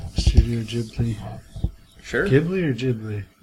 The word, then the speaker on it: Ghibli: Ghibli or Ghibli? Ghibli. Yeah, it's a Japanese pronunciation.